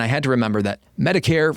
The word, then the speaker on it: Medicare: And I had to remember that Medicare rhymes with hair, as in white hair, because Medicare is for the elderly.